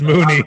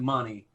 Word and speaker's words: Mooney: my bad yeah darnell money or mooney it's moony i know which way i would pronounce it though i would pronounce it money money boy but uh he did have 61